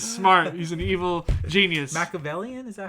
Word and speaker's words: Machiavellian: Machiavellian? Is that how it's said? Machiavellian, yes.